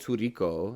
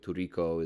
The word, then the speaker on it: tricot: signature that band's called turico right right tricot t-r-i-c-o-t I don't know if I'm pronouncing it exactly right but turiko is close to what it is it sounds Spanish when